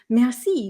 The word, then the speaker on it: merci: So this word is pronounced mercy. Mercy. So if you know French, how they say thank you is merci, merci.